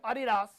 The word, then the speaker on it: Adidas: Or as Chatty would say, Adidas. Adidas. That's how it's pronounced, actually.